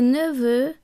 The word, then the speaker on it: neveux: So, for example, un gâteau, a cake, des gâteaux, cakes, un neveu, a nephew, des neveux, nephews. Notice that the X which forms the plural is silent.